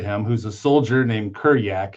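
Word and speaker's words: Kurjak: who's a soldier named Kuryak. His name is spelled with a J but Eastern Europeans pronounce J as Y.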